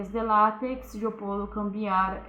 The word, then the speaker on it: LaTeX: Então, LaTeX, na verdade, se pronuncia LaTeX, é outra linguagem de